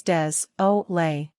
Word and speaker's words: désolé: In French, that's juh-nuh-say-kwa, désolé. Pronounce désolé as des-o-lay.